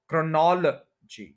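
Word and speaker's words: chronology: क्रोनॉल जीी क्रोनोलॉजी क्रोनोलॉजी four syllable है second के ऊपर स्ट्रेस है और क्रोनोलॉजी जो है इसको ज्यादा यहां पर कहते हैं क्रोनोलॉजी क्रोनोलॉजी नहीं है क्रोनोलॉजी इकट्ठा बोलना है क्रोनोलॉजी नॉल पे स्ट्रेस रखना है ये आप सुन भी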